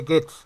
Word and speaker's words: Goethe: Escribía un alemán simple, bellísimo, por la claridad y el humor infinitamente autorreferencial, que lo hizo acreedor del premio Goethe. Se escribe Goethe y se lee Goethe.